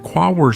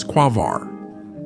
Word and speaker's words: Quaoar: Many people put the stress on the last syllable when pronouncing this name, which is not correct. In addition, in this form, it sounds similar to the term quasar, although the trans-Neptunian object